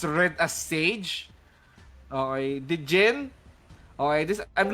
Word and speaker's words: SXGE: SXGE or Sage rather. Okay, as corrected by the comment section. That's how you pronounce that.